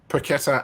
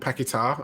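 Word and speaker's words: Paquetá: think his name i i've seen him pronounce paquetta and pakita and i'm going to go for pakita because that was what all the south american um uh commentators were saying but anyway yeah lucas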